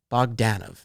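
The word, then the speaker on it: Bogdanove: he introduced himself and it's john bogdanov that's how the man says his name you learn something new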